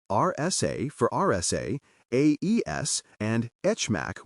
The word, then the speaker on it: HMAC: Say RSA for RSA, AES, and HMAC with a soft H for HMAC.